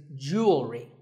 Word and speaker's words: jewelry: Word number 44 is jewelry. It's spelled differently in American and British English, but it's pronounced the same. Jewelry. Jewelry. It's not jewelry and it's not jewelry. It's jewelry.